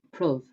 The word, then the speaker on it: prove: accent it does because prove is pronounced prove and so this couplet sounds like if this be our and upon be proved i narrate or no man ever loved and so it rhymes um another interesting thing